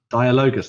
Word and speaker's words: Dialogus: Yes, the Dialogus. Dialogus. That's how you say her name.